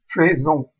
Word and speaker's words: faisons: Donc en fait, en français, le est de faisons, on le prononce, le AI de faisons, on le prononce E. Ça donne donc faisons.